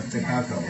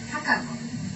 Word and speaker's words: Takako: And I mispronounced when I said I know Takako. She goes, oh, I think you're pronouncing it with an American accent. It's not Takako. It's Takako.